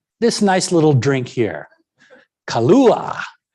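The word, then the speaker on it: Kahlúa: nice little drink here kalua now notice the spelling you got a k you got a silent h you got an accented u there you got a polynesian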